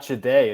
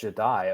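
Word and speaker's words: Jahdae: Apparently, it's Jadai. Sorry, I not not Jade. It's Jadai.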